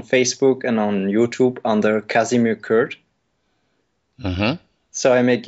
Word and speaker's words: Kasimir: And just for clarity's sake, it's Kasimir, Kasimir, because the pronunciation can be funny.